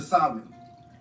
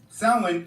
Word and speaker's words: Samhain: Now, the word doesn't look how it's pronounced. Samhain is a night celebrating death and hell.